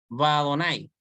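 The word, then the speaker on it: וַאדֹנָי: Y se debe pronunciar Vadonai.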